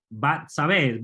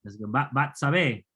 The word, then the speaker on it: Bat-Sabé: Bat-Sabé. En hebreo es Bat, no Bet. Bat-Sabé en hebreo.